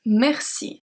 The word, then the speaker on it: merci: The little word that you already know is merci. Merci. It's a E, but it's pronounced as a E because it's before 2 consonants.